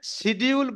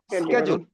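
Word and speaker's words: schedule: আসলে শিডিউল বলে কোনো শব্দ নাই, এটা হচ্ছে স্কেডিউল। এইরকম শব্দ যদি আপনি উচ্চারণ যদি আমরা করি তাহলে মানুষ তো বুঝবে না।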